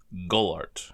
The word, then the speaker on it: Golart: And in crystal, it's Golart, as in like Gollum, but with art, since Smeargle is like Smeagol.